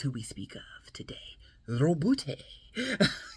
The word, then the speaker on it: Robute: Robute. You gotta roll the R or you're not saying it correctly.